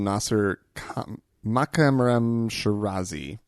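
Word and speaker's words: Nasser Makarem Shirazi: And so coming up first, I have a story about, unfortunately, in Iran, the Ayatollah, the Grand Ayatollah Nasser Makamram Shirazi.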